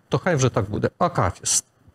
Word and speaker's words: акафіст: Акафіст чи акафіст? Така улюблена нашим людям служба, але справді багато хто каже акафіст. Треба казати акафіст.